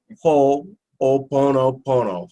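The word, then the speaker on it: Hoʻoponopono: you leave here and you'll be able to pronounce it ho-oh Buono Buono who all means to make so if you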